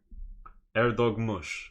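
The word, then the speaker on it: Erdoğmuş: Erdog Mush. That's how you say his name.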